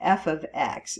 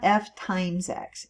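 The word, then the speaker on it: f(x): the function of X okay so it's the F ofx it's pronounced F ofx so f of x it's not f * X it means it's a function in terms of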